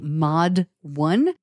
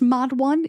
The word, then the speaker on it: Modd 1: I think it's pronounced Mod 1. It is spelled MODD 1.